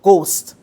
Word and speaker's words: ghost: hear in the word ghost? Ghost. We are hearing G, we are hearing the ost, but we are not hearing the H sound. So therefore, H is a silent letter in the word ghost.